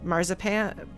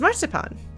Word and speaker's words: marzipan: the English pronunciation of the word the English pronunciation of the word is marzipan marzipan marzipan which is why she's Mars but